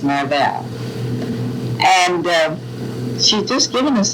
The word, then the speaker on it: Marvell: How do you pronounce Marvel? Marvel. Marvel. Everybody told us that it was supposed to be pronounced Marvel.